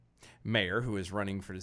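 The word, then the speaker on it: Meijer: This is actually spelled like the Norwegian, the Norse. Majir. Yeah, it's M-E-I-J. Major. He's Major. Major.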